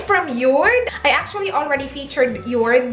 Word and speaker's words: Jord: with it it's from York I actually already featured your last time and I pronounced it as jord which was not the way you pronounce it at all they sell really good quality